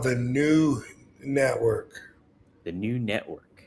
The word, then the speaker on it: Knew: It's called the New Network. The New Network. But it's spelled KNEW. Oh, like I knew.